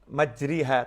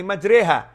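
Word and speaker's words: مجراها: Karena ada tulisannya Bismillahi majriha. Tapi bacanya Bismillahi majriha. Tulisan dan ucapan berbeda.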